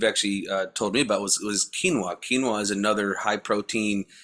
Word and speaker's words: quinoa: It's getting pretty Now, expensive to one of the other ways that you've actually told me about was quinoa.